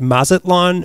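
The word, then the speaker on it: Mazatlán: that would have linked Mazatlan, Mexico. Is that how you pronounce it for me? That's right. You got it, boy. Yeah, you got it. So he wanted to connect Mazatlan, Mexico to New York City by train.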